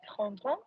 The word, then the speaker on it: prendront: So which of re, ra, and ron rhymes with on? Ron. That's it. So what's they will take? Elles prendront.